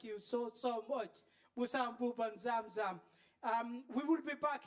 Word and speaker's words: Xam Xam: newspaper that wrote it he wrote like x-a-m-x-a-m and that's pronounced zamzam which we love so we